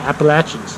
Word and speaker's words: Appalachians: Yeah, and it's in the Appalachians, or like how they say it in the South, the Appalachians. Yeah. Get that right.